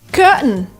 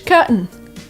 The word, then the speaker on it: curtain: Curtain is very British. Curtain. In America, we would say curtain. Curtain. The curtain rises. Kind of disappears, but it's still kind of there.